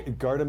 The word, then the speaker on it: Gardham: do you pronounce it I guard him is the way we kind of did it but if you get to guard him yeah you want to say guard him but yes okay so